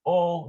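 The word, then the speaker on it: או: It's just pronounced O, means or.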